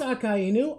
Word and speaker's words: Akainu: It is Akainu. I'm not wrong? Okay. I said it that way for so long, and then I got corrected by someone, so I was like, I guess I've been saying it wrong?